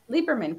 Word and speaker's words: Lieberman: last name right lieberman lieberman correct lieberman okay so the e is silent is from maple canada